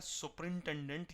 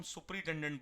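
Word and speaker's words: superintendent: सब कर देते हैं हम सुप्रीटेंडेंट बोलते हैं इसको लेकिन वोटर सुपरिंटेंडेंट सुपरिंटेंडेंट सुपरिंटेंडेंट ठीक है जो सुपरवाइजर करता है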